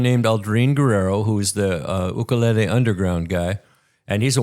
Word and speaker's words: ukulele: It brings to mind the Hawaiian phenomenon of the ukulele, which is not ukulele. That's the way we say it. But the islanders say ukulele. It's the correct pronunciation.